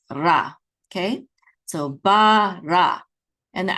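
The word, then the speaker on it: בָּרָא: And this is bara. Accent is on the last syllable, ra.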